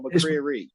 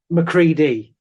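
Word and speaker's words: MacReady: Is it Is it McCriedi or McCreary? McCriedi. Oh, right.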